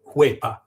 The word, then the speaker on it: huepa: The H is silent, and the whole thing is pronounced like a W. Well, I guess U-E, huepa.